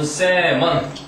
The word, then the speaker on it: salmon: 댐이 끼치는 가장 최악의 영향은 has been observed, 관찰되어져 왔는데 on salmon. salmon은 연어. 연어고 L 소리가 묵음이지.